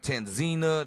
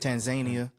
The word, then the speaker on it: Tanzania: Tanzina, that how you say it. Tanzania.